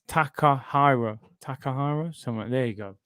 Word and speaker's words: Takahiro: Takahiro. It's Takahiro.